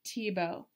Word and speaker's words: Thiebaud: And you would never guess it from the spelling, but it is pronounced Thiebaud.